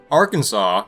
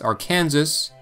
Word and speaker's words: Arkansas: came from English speakers Arkansas however isn't pronounced Arkansas because it was named by the French and retained this original French pronunciation a little bit like